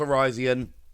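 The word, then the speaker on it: Virizion: were done with Verizon and yes it is pronounced Verizon even as much as I wish it wasn't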